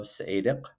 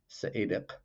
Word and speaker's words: Seediq: a thick description of Seediq Bale where the "q" there is a uvular stop that's kind of like a "k" except pronounced farther back in your mouth, now Seediq Bale is